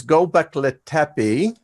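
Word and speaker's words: Göbekli Tepe: the diggings now and I will get this pronounced correctly it is gobekli tepe that we were hit by a comet they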